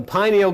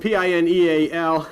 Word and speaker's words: pineal: But the pineal gland of the brain, also known as pineal gland of the brain, it's spelled P-I-N-E-A-L, also pronounced by many as P-E-N-I-E-L, pineal gland of the brain.